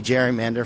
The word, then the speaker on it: gerrymander: It's spelled Gerry, mander, M-A-N-D-E-R. So it's like Jerry, like a man's name, and then mander, gerrymander.